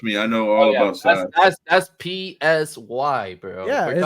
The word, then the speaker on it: Psy: Is that how you pronounce that? Oh, Psy.